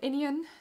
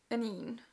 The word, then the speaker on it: Inine: It's not Inian, it's Inine.